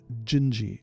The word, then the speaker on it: Dindi: But anyway, this is Antonio Carlos Jobim, and it's called Gingy, and it's spelled Dindi. So Portuguese pronunciation, is weird.